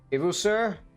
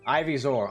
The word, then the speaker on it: Ivysaur: Ivusur? Ivusur. I have no fucking clue how to pronounce that. Them do the bonk. Oh, okay. Well, there you go. I still hate you for that, Tyler. Ivysaur.